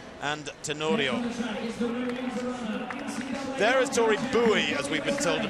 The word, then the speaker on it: Bowie: There is Tori Bowie, as we've been told to pronounce her name.